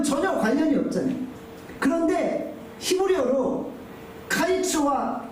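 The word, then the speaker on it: קַיִץ: 여름 과일은 히브리어로 카이츠입니다. 끝은 히브리어로 캐츠입니다. 카이츠, 캐츠. 뭔가 이 발음이 유사하잖아요.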